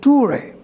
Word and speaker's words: tour: The correct pronunciation of this word is tour. As I told you, the final ra will not be pronounced, so we can say only tour in place of tour, right?